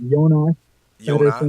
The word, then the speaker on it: Jonas Petersson: Like before, it's Jonas Petersson.